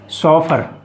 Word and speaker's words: chauffeur: तो फ्रेंड्स पहला वर्ड है सॉफर। जी हाँ, सॉफर, CHAUFFEUR, सॉफर। तो फ्रेंड्स इसका जो प्रोनाउंसिएशन है सॉफर, यानी चौ नहीं है, सौ बड़ी सी, सॉफर, CHAUFFEUR, सॉफर।